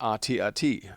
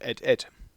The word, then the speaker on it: AT-AT: Aus dieser Zeit kommen wohl auch noch die komischen Aussprachen wie X-Wing und AT-AT anstelle von Ed.